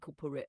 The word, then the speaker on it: corporate: Keep the ending soft like corporate. Avoid dragging out the rate.